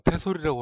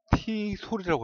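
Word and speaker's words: TESOL: 그리고 그 숙명여대 티솔, 보통 태솔이라고 하는데 태솔 그러면은 애솔, 여기에 뉘앙스가 있어갖고 그렇게 발음하지 않고 티솔이라고 합니다.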